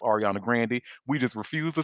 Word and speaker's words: Grande: people cuz she has said her name is pronounced Ariana Grandandy. We just refuse to say her last name right. So, we call her Ariana Grande.